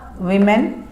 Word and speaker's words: women: इसका जब हम प्लूरल बनाएंगे तो ये बनेगा WOMEN और इसका जो प्रोनाउंसिएशन होगा वो होगा विमेन, वुमेन, वीमेन।